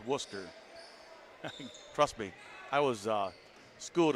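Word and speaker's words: Wooster: And no, folks, it's not Worcester, it's Worcester.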